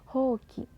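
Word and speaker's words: 箒: hoki nah ini lagi huruf o dan u bertemu maka dibaca o-nya panjang hoki kemudian kalender karenda fas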